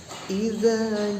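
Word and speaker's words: إذا: Di situ ada huruf za, idza, idza. Nah, huruf za-nya itu nih digigit lidahnya ya.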